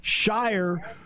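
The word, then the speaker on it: Scheyer: And then there's Shire, whose name rhymes with choir because he's the choir guy of the group.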